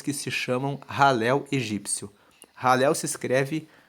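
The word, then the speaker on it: Hallel: formam os salmos que se chamam ralel egípcio ralel se escreve h a l l e l e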